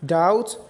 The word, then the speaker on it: doubt: The second rule for silent B is B is silent when it comes before letter T in the same syllable.